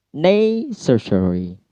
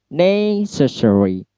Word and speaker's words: necessary: Necessary. Ne-nya yang di stress ya. Petiknya di ne soalnya di sana. Necessary.